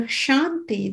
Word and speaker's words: kshanti: But the shanti that is being referred to in this verse is spelled with a K in the beginning, with a slight K, shanti, K-S-H-A-N-T-I.